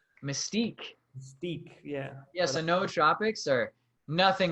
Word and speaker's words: nootropics: do you say it pneumotropics no troopers no troubics no so the the no are pronounced separately so you have like the no tropics no tropics i like it or